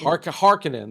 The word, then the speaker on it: Harkonnen: right, but they are Harkonians. But like they're Harkonnen, I think. Harkonnen. That's how they say it in Yeah. this movie. Although I've heard it pronounced differently, but they're kind of evil, very imperialistic.